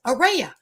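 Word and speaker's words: Aria: cannot pronounce my name it's area some people say it's like a ray of sunshine but other people say it's pronounced like a ray of hope so that's what i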